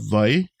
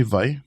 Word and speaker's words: wai: try that with me v v yeah and then you see we use that V sound for that but you can also use why with the w but mostly what I hear is V uh in Havi you